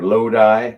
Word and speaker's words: Lodi: So I's are E.